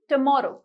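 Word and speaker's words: tomorrow: बोलते हो तोमरो तोमरो इस नॉट तू मोर जब टी के बाद जो ओ ए रहा है उसकी साउंड ओ नहीं है इट इस टुमारो टुमारो ठीक है सी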